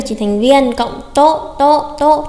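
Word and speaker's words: と: cộng to to to, chúng ta có phát âm là to to, không đánh dấu sắc hẳn và nhấn nó thành tố nhá. Có rất nhiều bạn đọc sai phát âm là tố nghe rất là kinh. Chúng ta đọc bật hơi này, to to to, cảm giác vẫn là chữ to nhưng mà bật hơi một chút, to.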